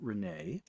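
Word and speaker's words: Rena: by uh Renee Winters her name is spelled re n a but she pronounces it Renee just like walk away Renee and um that um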